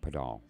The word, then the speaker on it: Padal: Puh, like you're gonna say putty, like silly putty. Puh. Doll, like a baby doll. Padal.